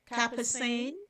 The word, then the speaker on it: capsaicin: Hey, spicy foods, particularly those containing capsaicin, am I pronounce it capsaicin, like chili peppers, can increase blood circulation, including to the penis, and may boost testosterone levels.